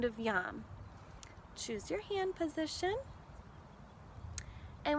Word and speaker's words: yam: the heart space is yum it sounds like that YUM it's spelled Y a M yeah so you can